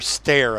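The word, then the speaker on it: Steyr: Or stare, I guess. Stare is the way they pronounce it from what I've heard English people saying, oh, yes, that's the stare.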